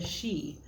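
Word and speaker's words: sidhe: is the tarot of the she which is how you pronounce this s-i-d-h-e which is the the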